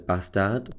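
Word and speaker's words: Båstad: nordea open in boston which you might know as bastard but that's how you say it i learned whilst i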